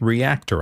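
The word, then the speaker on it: Reaktor: He's been playing with Reactor, I believe that's how you pronounce it, R-E-A-K-T-O-R, from Native Instruments.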